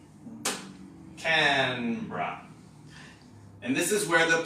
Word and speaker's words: Canberra: called Canberra so again if you look at this and try to read it phonetically you might be tempted to say Canberra but it's just two syllables Canberra can bra and this is where